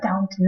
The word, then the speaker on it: Downton: Is it Downton. downtown? No, Downton. Downton.